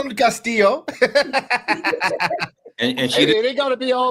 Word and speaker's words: Castillo: pronounced your name Caso she pronounced it perfectly like Perfection man you got that Double L she got that EO real real well like I call him like Castilla like you I call